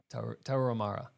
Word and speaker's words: Tarahumara: I never say it right, Tarahumara.